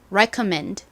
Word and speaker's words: recommend: 리코맨드라고 읽으시는 경우가 많은데 rec 아닙니다. recommend입니다. recommend 여러분 따라해 보세요. 추천하다. 아니고요. recommend recommend 좋습니다.